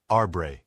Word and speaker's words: arbre: in the same way he was taught to pronounce ape sin and tree arbre he was a most eager student and in